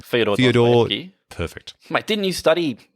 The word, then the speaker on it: Fyodor Dostoevsky: In contrast, The Double is based on a novella called The Double by, how do you pronounce his name? Fyodor Dostoevsky.